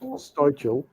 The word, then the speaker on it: Styvechale: Society where I grew up is it's the same way as where I grew up is pronounced Stychel, but it's spelled Styvechale.